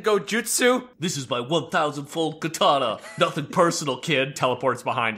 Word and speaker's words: katana: It's pronounced katana, not kitana.